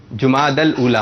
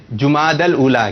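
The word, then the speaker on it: جمادی الاولیٰ: جماد ال جیم پر پیش ہے جماد الاولا.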